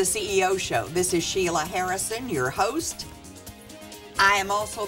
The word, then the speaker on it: Huiras: My guest is Dick Harris.